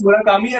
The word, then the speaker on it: Murakami: Yeah, I would suggest you to read Haruki Murakami, if that's how you pronounce his name. Uh, that is, I think that I don't is. know what's his name. It's Murakami, and I am actually going to read her one book.